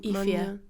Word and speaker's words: Aoife: It's not how it looks, but that's no, that's it. Ifia. Pronounce it how you see it, but that's not how you see it.